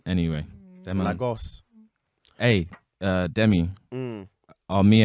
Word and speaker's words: Lagos: up lagoose said it wrong bro the way americans say lagos is on is uncomfortable man anyway lagos hey uh demi are